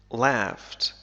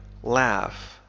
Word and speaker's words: laugh: المضارع هي laugh يضحك laugh تنطق بطريقتين مختلفتين فالإنجليزية الأمريكية تنطق ب laugh مثل cat laugh cat لكن في الإنجليزية البريطانية تنطق ب laughed مثل father I laughed فهذين الحرفين ينطقان كما ننطق في father The other pirates laughed